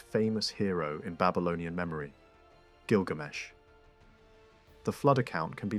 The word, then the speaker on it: Gilgamesh: Older publications rendered it as something like Izdubar or Gishtubar, because the writing system used signs that could be read in different ways. Later work clarified how Babylonian scribes actually pronounced it, and the name that emerges is the familiar one, Gilgamesh.